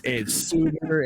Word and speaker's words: Sautter: Oh, dude, it's Sautter, it's Sautter, it's Sutter, and some people, this is rare, but it's happened because my first name's spelled with a C, right?